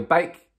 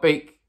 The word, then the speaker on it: Beek: With the Donny van de Beek deal, Beek, not Beek, drop a like on the video, come on.